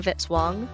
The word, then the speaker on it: Vitzwang: Music by Kevin Vitzwang rhymes with hit song.